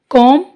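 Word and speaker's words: comb: कॉम, अब इसको हम कॉम ब नहीं बोलेंगे, बी इसमें साइलेंट है, एम के बाद बी आ रहा है तो इसमें बी साइलेंट होएगा।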